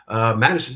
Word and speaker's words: Madisyn: Madisyn, and I'm saying that right?